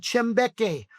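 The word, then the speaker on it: Kyambeke: It's called Chimbeche. Doesn't It's not spelled the way you think it is. It's spelled k y a m b e k e.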